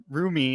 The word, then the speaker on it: Rumi: And they even like the girls take uh Rumi. Is that how you pronounce her name? I'm so Rumi. bad with Yeah, these names. Rumi.